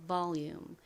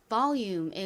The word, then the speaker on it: volume: V는 진동이 들어간 비읍 소리가 나고 O는 한국식으로 보통 O 소리로 읽죠. L은 리을 소리 나고요. 또 뒤에 있는 모음과도 연결되어서 또 한번 소리가 납니다. 이렇게 끝에 UME가 올 때는 UM이 소리가 난다고 말씀드렸죠. 그래서 volume이라고 발음하시면 돼요.